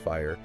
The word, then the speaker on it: FHIR: security yes absolutely yeah fhir you know pronounced fire and we're going to